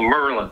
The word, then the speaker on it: Maryland: used to say there they say high school merlin it's actually a two-syllable word if you're really from there and that's how you know the people that are really from there merlin uh it's just it's just a local accent balmer merlin only four syllables in those words sounds like merlin i i i was